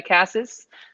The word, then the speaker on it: Casas: old but those two I thought shank um Casas is that how I say it how do you say it yeah Cassis okay um I actually thought I was a